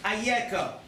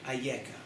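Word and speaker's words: אַיֶּכָּה: It's the same letters, different pronunciation. Ayeka, where are you? So how did this happen? And it's also, where are you? Ayeka.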